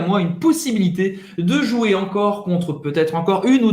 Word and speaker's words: encore: Não vai pronunciar o E no final, acaba no R.